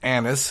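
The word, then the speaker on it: anise: in Anis and um I got to be careful how I pronounce that it's Anis the seed um and what it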